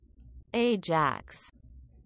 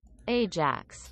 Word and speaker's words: AJAX: something using ajax request because that's how you pronounce it ajax new jacks i got it right ajax all right so to keep this simple there's